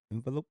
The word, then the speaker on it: envelop: envelop envelope enveloping me envelope no not envelope it's envelop envelopment yeah it's SAT Word if you ever heard it's like envelope but it's pronounced envelop huh like people you